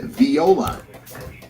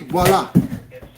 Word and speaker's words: Viola: Arrow Point, Chain Lakes, Golden Oak Hill, and Viola. Viola is apparently a hamlet. 63 in Lexington and Jackson. And don't sit there and tell me actually Ryan is pronounced voila cuz I I don't care anymore.